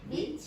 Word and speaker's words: beach: Beach. That's it. Remember the vowel is the long vowel.